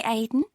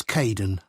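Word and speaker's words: Kaeden: Hi Aiden. Uh, it's Kaden.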